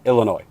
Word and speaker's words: Illinois: say that he is Illinois is pronounced out the S so Illinois okay um that most